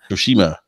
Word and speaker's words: Tsushima: They'll be showing The Last of Us 2, Ghost of I can never pronounce this one. Tsushima.